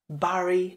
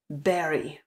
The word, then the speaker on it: bury: jak byste ho vyslovili Pokud říkáte něco jako Barry nebo Bury tak vás musím zklamat opět tu máme slovíčko které začíná na Bu a opět takto trochu a popírá veškerá pravidla protože tohle slovíčko se vyslovuje stejně jako bobulka nebo bobule Berry Berry takže pozor na to